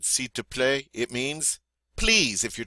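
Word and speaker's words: s'il vous plaît: last five coming up see to play see to play all right you try it did you notice we really didn't say the L we just said c to play it means please if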